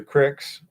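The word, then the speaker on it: creek: know the uh the cricks that is the official Montana pronunciation of the word c-r-e-e-k it's Crick okay um but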